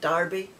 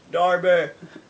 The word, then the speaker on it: Derby: and he lives in derby i think when you look at it it's derby d-e-r-b-y but it's pronounced darby or maybe that's just a scottish we are saying it darbur and then this one